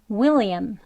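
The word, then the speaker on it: William: 되겠습니다 다음은 윌리엄 있니다 윌리엄은 이렇게 여기 또 강세가 여기 표시가 강세 표시예요 will 하면은 강세가 들어 있는 모음에 특징이 있는데요 소리가 길게 나고 높게 그리고 강하게 들립니다 그렇게 발음을 하셔야 돼요 그래서 그냥 윌리엄 윌리엄이 아니고 윌리엄 윌리엄 이렇게 발음을 해 주시는 것 또 유의하셔서 해보세요 두 번 해 보겠습니다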